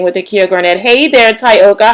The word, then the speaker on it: Tyoka: Oh my gosh, first of all, okay, so my full name is pronounced Tokatha, and Tyoka's name is, of course, Tyoka.